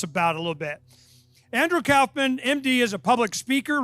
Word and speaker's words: Kaufman: dr andrew kaufman now it's pronounced kaufman i just want to make sure everybody knows